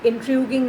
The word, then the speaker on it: intriguing: Intriguing means fascinating and curious. No, the pronunciation of this word is, children, intriguing. Intriguing.